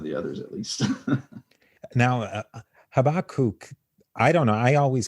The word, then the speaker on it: Habakkuk: mm-hmm so yeah uh habakkuk i tend to say habakkuk but habakkuk is actually a little bit better the pronunciation so he is actually